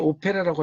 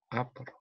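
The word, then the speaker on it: opera: 그러니까 우리는 오페라라고 하지만 영어로 읽을 때는 아퍼러라고 발음을 합니다. 아퍼러.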